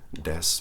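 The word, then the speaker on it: です: actually their accent but they don't pronounce it when they speak in Japanese deaths or deaths ooh as we don't call it des means essentially it is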